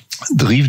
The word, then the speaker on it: Dreev: Drive, donc ça s'écrit DREEV, et selon son PDG